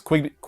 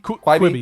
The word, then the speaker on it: Quibi: But moving on to movies and television, we have, I don't know how to even pronounce this name. I think it's Quibi. Quibi, yeah.